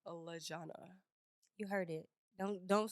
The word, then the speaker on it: Lejona: That is ALEXISLEJONA, and that is pronounced Lejona. You heard it. Don't say it no other way. Okay. Lejona.